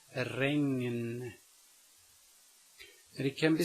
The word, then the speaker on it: regn: It can be spelled with only a G in front of an N, but the N is spoken separately. Regn, regn. Notice that I say the ng and then the n, regn.